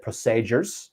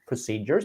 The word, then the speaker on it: procedures: i picked up on was the word uh procedures you said procedures so procedures the long e procedures but nothing too uh